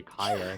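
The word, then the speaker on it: Kaeya: Because like in English they do say Kaya, not Kia, so I'm like, ugh, where does this come from?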